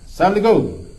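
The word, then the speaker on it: السلام عليكم: Baca Assalam, jangan Salamun. Assalamualaikum. Assalamualaikum. Assalamualaikum. Jangan panjang kum. Biasa saja kum. Jangan kum.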